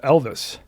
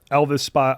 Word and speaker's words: Ylvis: That was a Norwegian artist by the name of Elvis. Okay. Not from Tupelo, Mississippi. I No, assume. no. Elvis spelled Ylvis.